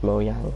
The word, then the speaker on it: Mojang: microsoft took over and mojang um it's pronounced mojang actually because it's like swedish but like when my